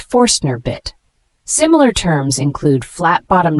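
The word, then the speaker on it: Forstner bit: creating flat bottomed holes it's pronounced forner bit similar terms include flat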